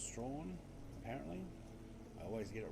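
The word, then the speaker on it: Strahan: a little village called Strawn, or Strawn as it's spelt, but it's Strawn apparently.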